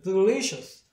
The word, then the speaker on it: delicious: 시어 사운드까지 생각해서 발음하면 시어 사운드니까 delicious 이렇게 되겠죠.